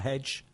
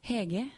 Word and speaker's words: Hege: Hi, Hedge. Hi. Is that your name? Hege. Heg. Hege. Yeah. It's Norwegian.